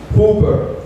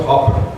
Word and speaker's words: Huber: you can read here it's pronounced Hoover not Hopper right A lot of